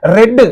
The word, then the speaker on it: read: you have to say red in the past tense you have to pronounce the verb as red in the past Parts Quran so you